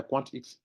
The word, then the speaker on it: QuantX: va dire comme ça quant x qu X vous voyz qu'ils ont mis le X en majuscule non donc ça ça se prononce à part à part quant et puis x c'est qu X qui